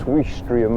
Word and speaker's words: Ouistreham: So I think I said this place was called Ouistreham earlier, but we think it's Ouistreham or something. Well, it's spelt like O-U-I, which is we, isn't it?